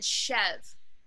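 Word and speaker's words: chèvre: any other type of cheese um and then chev which is spelled c-h-e-v-r-e um people always mispronounce it badly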